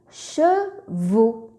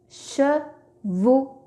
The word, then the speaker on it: chevaux: Ici, la lettre X ne s'entend pas, ne se prononce pas. X est muet. Chevaux.